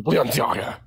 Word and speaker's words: Balenciaga: Say it properly. Balenciaga. Okay. Like, it's like when you say Balenciaga, you gotta say that shit like you're casting a spell from like Harry Potter, like Balenciaga.